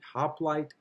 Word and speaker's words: hoplite: The hoplite phalanx. I'll spell that for you.